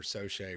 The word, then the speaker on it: Soche: some folks pronounce it Socher and some are Soche. Which one are you? So I make sure I can pronounce it correctly. Soche for sure.